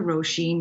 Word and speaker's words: Róisín: machine machine well it's helping people say my name a little bit better roshin machine it kind of rhymes kind of and i do everything